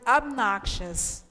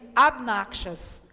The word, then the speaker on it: obnoxious: out to the word obnoxious. It writes so strangely, right? It's even difficult to know how to pronounce it if you're seeing it for the first time. But let's say after me, obnoxious.